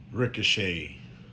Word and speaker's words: Ricochet: Ricochet. Isn't it funny how you spell ricochet, but for some odd reason you don't hear the T at all?